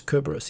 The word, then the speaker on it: Cerberus: here cerberus kerberos tenshi i believe the latin pronunciation is kerberos even though i think most english speakers say cerberus because english is stupid uh you too no